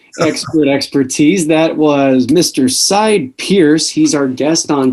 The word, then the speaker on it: Sidney: It's actually pronounced Sidney. I know a lot of people think the N-E-Y is silent, but it's actually Sidney Pierce.